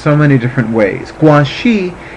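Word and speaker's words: Guanyin: so many different ways guanxi is the Chinese pronunciation and it is as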